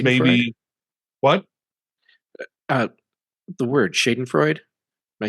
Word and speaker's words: Schadenfreude: The word Schadenfreude. Am I saying it right? Yeah, Schadenfreude.